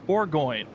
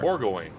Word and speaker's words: Bourgoin: made the pass, and it is pronounced Matthew Bourgoin. That is what we're going to be going for. Bourgoin.